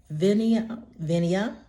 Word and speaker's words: Vinea: It is the Venia Foundation Grant, and that is spelled VINEA.